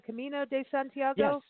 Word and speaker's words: Camino de Santiago: is it am i saying it right the camino de santiago okay you got it yeah yeah that's very